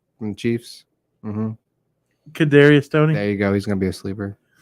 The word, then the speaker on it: Kadarius: How do you pronounce his first name? From the Chiefs. Mm-hmm. Kadarius Toney.